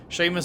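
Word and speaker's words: Seamus: his son seymour stima is that sheamus is this one of those like there's no h but it's pronounced with a shush sheamus dumas has been lost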